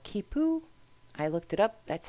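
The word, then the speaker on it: quipu: is how things were communicated these are called kipo I looked it up that's how you pronounce it and it is a 10 based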